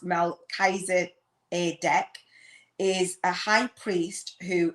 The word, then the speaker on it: Melchizedek: or what have you melchizedek product pronounced mel kaiser a deck is a high priest